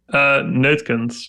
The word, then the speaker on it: Neutkens: That's how you pronounce it, right? Neutkens, but it's very Neutkens.